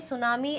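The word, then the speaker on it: tsunami: सुनामी अब आप बोलोगे मैम ये सुनामी एस से आ रहा है तो टी क्यों भाई टी साइलेंट है ठीक है चलो अब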